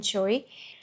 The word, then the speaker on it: Choi: Okay, so this is Flashlight by Suzanne Choy and then we have Endgame by Maria Diva.